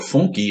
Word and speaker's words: funk: Funk, or funky as it's pronounced in Brazil, the style most associated